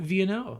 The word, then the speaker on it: Vienneau: I would say like the way to pronounce it is like V the letter and then n the letter and then o pretty easy I realized